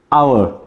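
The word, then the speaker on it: hour: plus vowel বিশিষ্ট ওয়ার্ডে এইচের উচ্চারণ যদি সাইলেন্ট থাকে নীরব থাকে অথবা আমরা উজ্জ্বল বলতে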